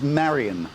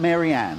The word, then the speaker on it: Marion: Her name is Marion, not Marianne.